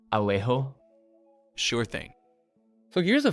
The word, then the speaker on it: Alejo: In IPA, Alejo would typically be transcribed something like Alejo with, then that's kind of how you pronounce it. So you're stressing the le part a bit, and that J sound is kind of a throaty H sound.